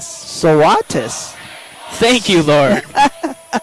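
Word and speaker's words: Svatos: She says, it is spelled S-V-A-T-O-S, but say it Swatis. Swatis. Thank you, Lauren. Swatis.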